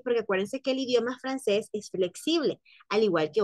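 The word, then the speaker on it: français: llevar una sedil Entonces cuando lleva la sedil ya no dice Francis sino que dice francés y de hecho eh Aunque no lleve la sedil porque acuérdense que el idioma francés Es flexible al igual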